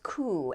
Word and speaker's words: coup: Okay, the next ones are words that have a silent letter at the end.